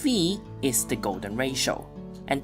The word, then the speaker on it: phi: Turns out, the general term is not that crazy, and here, phi (pronounced fee) is the golden ratio.